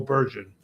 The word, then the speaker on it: Bergen: So this port is called a Bergen Bergen or Bergen. I'm going to say Bergen because over here there's a Bergen County. So that's how we would say it over here.